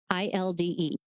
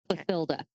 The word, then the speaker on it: Clothilde: There are like 4 different ways to pronounce this name. I did look them up. It is spelled Cloth, cloth, Ilde. Clothilde. Clothilda. I'm going with Clothilda.